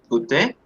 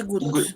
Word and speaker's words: goûte: Je goûté. Je goûte. Je goûte. Porque la E no se pronuncia.